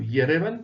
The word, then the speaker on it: Yerevan: La capitale, Yerevan, ou Yerevan, comme certains le prononcent également, est une grande ville, bien entendu, très étendue, clairsemée de parcs, mais aussi et de quartiers bien distincts.